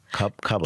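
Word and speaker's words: Kabbalah: I don't know if it's a magazine or an article, but you said, how do I pronounce it? You speak in German now to me. Kakabala. Kabala.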